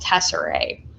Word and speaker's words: tesserae: in mosaics would be called tesserae which sounds like the word Tesseract because that's where it